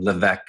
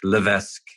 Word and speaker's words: Levesque: Ryan Levesque, or I don't know how to say his last name, Levesque. Levesque, yeah, it's somewhere in there. Silent S, yeah. But French last name.